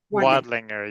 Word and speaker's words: Wodlinger: it's Woodlinger. Is that how I pronounce it? Wadlinger.